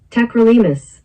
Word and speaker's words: Tacrolimus: Tacrolimus? Is that how you pronounce it? Tacrolimus. Tacrolimus.